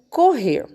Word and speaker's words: correr: A palavrinha correr. Correr, né? Qual é a sílaba mais forte dela? Né? Chama a palavrinha correr. Correr, né? A sílaba mais forte é o rer.